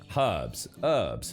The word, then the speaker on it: herb: Herbs. What do you actually say herb in America? You actually don't pronounce. You have a silent H.